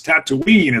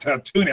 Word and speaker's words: Tatooine: knee is or it's it's Tatooine it's not to me I'm like okay and